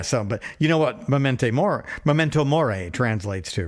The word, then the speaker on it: Memento Mori: Yeah, I was calling it the Memorial World Tour. It's a Latin phrase.